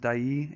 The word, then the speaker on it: Dyea: the way this is set in a town called dyay I believe it's pronounced die II and you'll see it